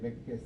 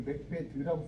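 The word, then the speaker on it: Macbeth: 어떤 사람은 이걸 맥베드라고 쓰기도 해요. 맥베드란 말이 있었어요. 네, 그러니까. 네. 근데 이게 이제 정확하게 스도 아니고 드도 아니에요. 왜냐면 th는 혀를 이렇게 내밀어 놓고 메롱하는 거잖아요.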